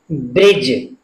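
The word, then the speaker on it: bridge: जी आता है, तो ऐसे शब्दों में डी साइलेंट रहता है। बी आर आई डी जी ई, इसको हम क्या पढ़ेंगे? ब्रिज, ब्रिज।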